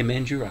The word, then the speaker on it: Mandurah: just for future reference, how do you say Mandurah? Mandra. Oh, Mandurah. Mandurah. There we go.